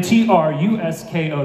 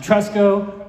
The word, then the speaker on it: Trusko: You can spell my name T-R-U-S-K-O. That's pronounced Trusko, not Trusko.